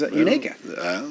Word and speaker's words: Unaka: I did get a pronunciation. Oh, good. Unaka. Now I know. So I've seen that on a map all my life. I grew up around here. I've never really known how to pronounce that. It's Unaka.